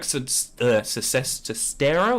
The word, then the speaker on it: Sestero: your experience with this, like with what Greg Sestero, is that how you say his name?